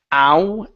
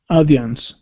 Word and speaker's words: audience: going to be audience instead of ow audience it's a AI audience audience good one more time audience instead of aian aian audience good all right nice